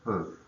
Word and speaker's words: peut: Où on peut. Où on peut. So you should have OU, accent on top of the U. O-N, and then per is P-E-U-T. So silent T on the end.